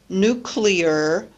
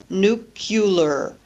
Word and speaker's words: nuclear: examples on the slide instead of nuclear many people pronounce the word nucular by adding a u to break up the cluster or sometimes we add